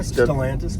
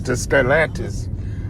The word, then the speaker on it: Stellantis: How you say it again? Stellantis. Stellantis.